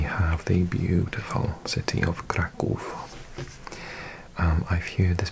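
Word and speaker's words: Kraków: So it's crack, but I I think in Britain we pronounce it crackov and in America I think it's pronounced krakow.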